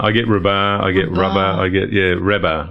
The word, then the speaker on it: Rabah: Rabah, yeah. Oh. Rabah. I get Rabah, I get Rabah, I get, Rabah. Rabah is the more sort of, in Lebanese it's the Rabah.